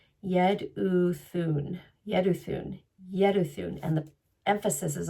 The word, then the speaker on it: Jeduthun: So in my English pronunciation, I would say Jedu, but you do not pronounce the J. So it's yed. Yedun Yeduun Yeduun and the emphasis is on the thoon.